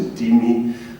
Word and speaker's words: dhimmi: The dhimmi, also known as dhimmi, but it's actually pronounced dhimmi.